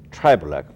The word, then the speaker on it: Trybulec: you the viewer today our guest is tribol perhaps I didn't pronounce her name correctly but she will she